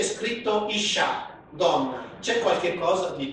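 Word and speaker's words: אִשָּׁה: Qui si legge Ish. Qui invece è scritto Isha, donna.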